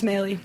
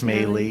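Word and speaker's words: Mahle: So how do you pronounce his last name? Mali? Pax Maley. Pax Maley.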